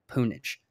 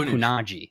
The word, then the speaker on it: pwnage: message on Twitter and he said pune JH punish it's not new Nagi which is what I've